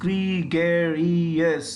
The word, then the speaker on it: gregarious: मैं आप लोगों के साथ इसका इजी प्रोनाउंसिएशन भी शेयर कर रहा हूं, विच इज ग्रीगेरियस।